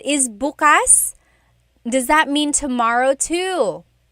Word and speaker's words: bukas: If you say bukas, bukas, the emphasis is on the second syllable. That means open. If you say bukas, bukas, emphasis is on the first syllable, that means tomorrow.